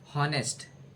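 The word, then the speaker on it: honest: ए एन ऑनेस्ट एच ओ एन एस टी ऑनेस्ट ऑनेस्ट ऑनेस्ट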